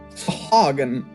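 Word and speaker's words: Sahuagin: How do you pronounce the shark people's name again, Will? Sahagin. Sahagin?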